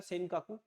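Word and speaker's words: 尖閣: इसमें जो आइलैंड है उसका नाम है आपका सेन काकू, स्पेलिंग थोड़ी डिफरेंट हो सकती है, सेन काकू, ये जापान में बोला जाता है सेन काकू।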